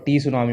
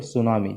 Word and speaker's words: tsunami: ध्यान रखना सुनामी में जो टी है ना ये साइलेंट होता है, तो इसको हम प्रोनाउंस नहीं करते, ठीक है, ये साइलेंट होता है, इसको हम प्रोनाउंस नहीं करते, इसलिए इसको टी सुनामी मत बोलो, सुनामी, जस्ट सुनामी।